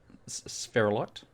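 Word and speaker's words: sphalerite: barrel will make emeralds uh zinc comes from spherilot that's how you pronounce it and uranium comes from i'm not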